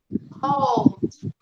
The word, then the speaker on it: called: Called. Pronunciation, called. Look. Called. Yes. Called. We do not pronounce this vowel here. We don't pronounce this vowel. We just pronounce the L and the D, okay?